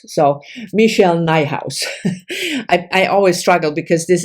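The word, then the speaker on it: Nijhuis: beloved beasts by oops Michelle nighthouse rhymes with my house so Michelle nighthouse I always struggle because this is a very Dutch name and the Dutch pronunciation would be nay house so she probably simplified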